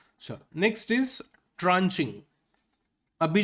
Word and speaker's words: tranche: ट्रेंचे नहीं है वो, ट्रेंचे नहीं होता, ट्रांचे होता है, ठीक है।